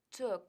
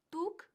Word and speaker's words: took: take Yesterday I took Cuidado con la pronunciación took took que no es tu sino took took marcando bien la k ahora I took the